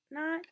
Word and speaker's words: knot: You can put a silent K in front of that knot, and it'll be like you tie a knot in a rope or in your shoe.